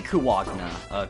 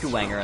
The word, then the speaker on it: Kuwanger: It might be Kuwagna. No. It's pronounced Kuwanger in the PSP remake, so...